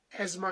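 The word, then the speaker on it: asthma: और इंग्लिश में इसको एजमा कहते हैं। हिंदी में अस्थमा और हिंदी का अगर अनुवाद किया जाए तो दमा अन्यथा इंग्लिश का प्रोनन्सिएशन है एजमा वर्ल्ड एज्मा डे वर्ल्ड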